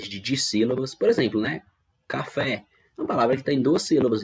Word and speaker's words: café: é a sílaba tônica por exemplo na palavra café a sílaba tônica ou fé é a sílaba que foi pronunciada com mais força com mais intensidade e estas com menor